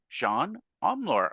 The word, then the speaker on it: Jeanne Omlor: I'm really excited I have my new friend Jean omor on the show Welcome Johan thank you so